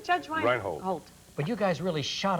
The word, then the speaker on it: Reinhold: Reinhold.